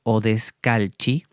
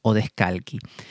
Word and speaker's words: Odescalchi: Más digo sería porque se escribe Odescalchi, imagino que será, como es italiano, Odescalchi.